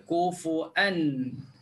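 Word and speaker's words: كفوا: Kufuwan ahad, dia akan baca kufuan.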